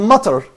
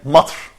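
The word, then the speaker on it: مطر: But we Yeah. don't say matr. Yeah. Can you see this? The same matter. Matar. So that means that we have a vowel which is fatha coming implicitly above the letter which is ta.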